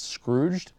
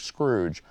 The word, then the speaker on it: Scrooged: I feel like I need to pronounce that more carefully. When you see it in writing, it's Scrooed. But like, you know, you get to talking fast and it's like Scrooge.